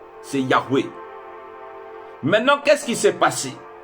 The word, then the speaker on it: Yahweh: de la prononciation, Donc, le nom, la prononciation la plus proche du nom de Dieu, c'est Yahweh. C'est Yahweh.